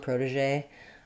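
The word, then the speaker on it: protégé: Um and we have um first syllable stress. Letter O does say the O sound like in program. We can flap that T. Proda in American English. Prod. This E is awah sound. And then we have um like in garage or massage. The letter um G says the sound like in measure. Um and then our final E says the A sound. Protege um because it has that accent.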